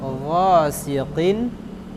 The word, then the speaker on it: غاسق: قل أعوذ برب الفلق من شر ما خلق ومن شر غاسق إذا وقب Ghasiqin. ومن شر غاسق إذا وقب. Ini kalau hurufnya kaf, kin. Tapi kalau qaf, qin.